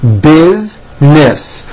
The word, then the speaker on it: business: Most Americans pronounce this word with 2 syllables. Business.